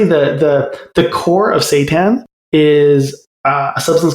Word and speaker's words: seitan: at your plant protein guide and is it pronounced seitan yeah yeah yeah i i there's a there's